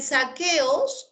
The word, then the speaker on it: saqueos: En saqueos, la U no se pronuncia, ¿de acuerdo?